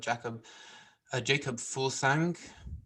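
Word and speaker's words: Jakob Fuglsang: They're there, but they got Jacob Fulsang.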